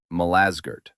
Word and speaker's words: Malazgirt: The Turks pronounce it Malazgirt.